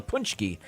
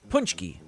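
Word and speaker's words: pączki: don't know but uh it's spelled p-a-c-z-k-i punch key anyway that's the way they pronounced it uh on the news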